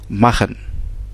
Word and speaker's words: machen: Donc la prononciation du R dans le mot prémisse nous fait en fait sortir ce son ch, comme dans le verbe machen. Hein? Dans le verbe machen, c'est le verbe faire.